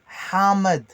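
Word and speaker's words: حامض: El hamad. Le H expiré dans la gorge d'une façon aiguë. El ha. Hamad. Hamad. El hamed.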